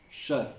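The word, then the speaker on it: ش: with the, try with the sides of your mouth towards your teeth, towards your palate. Sha, sha. So your tongue goes a bit like this. Sha. This is the only way that you can pronounce a correct sheen.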